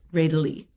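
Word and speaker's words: Rédélé: little bit about Jean Ridley, I think is the correct French pronunciation. So I'm going to really work hard on making sure I pronounce it correctly. It's Ridley.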